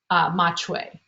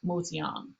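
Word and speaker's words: 麻雀: was written in chinese what would have been pronounced in mandarin or what's spoken in beijing as machui however in shanghai it would have where it was developed that would have been pronounced more like moseong and so we can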